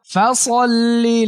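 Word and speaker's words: فصل: ইন্না আ'তাইনাকাল কাউসার ফাসল্লি লিরাব্বিকা। ফাসল্লি লিরাব্বিকা। অনেকে ফাসাল্লি বলে, ফাসাল্লি ভুল উচ্চারণ। স স ফাস।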